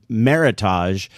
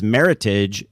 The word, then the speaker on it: meritage: pronounced for years uh meritage as it turns out it's meritage it rhymes with heritage and it's a made-up